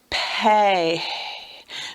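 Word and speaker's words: פה: Pay. Now, it feels like this is silent. I'm not really making much sound with that at the end.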